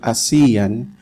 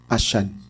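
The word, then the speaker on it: ASEAN: is an entitled action I'm tempted to use the word assian but I think to be faithful with how it is pronounced by our colleagues in southeast asia as i should say ashun ashun in southeast asia a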